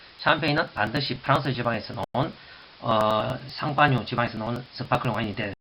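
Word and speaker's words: Champagne: 나중에 또 설명했지만 샴페인은 프랑스 쌍파뉴라는 지역이 있습니다. 쌍파뉴 지방에서 나는 그 스파클링 와인을 가지고 영문식 발음을 해서 샴페인이라고 합니다. 쌍파뉴 지방에서 나는 쌍파뉴, 샴페인, 쌍파뉴.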